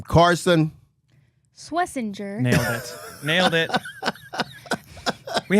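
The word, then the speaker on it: Schwesinger: Uh this kid's name Carson Swessinger. Nailed it. Nailed it. We had some names today, guys. Pronunciation or anything. Swissinger.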